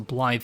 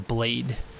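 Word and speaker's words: Blaidd: pronunciation guidance on this, and also Blythe the Half-Wolf, who I was calling Blade.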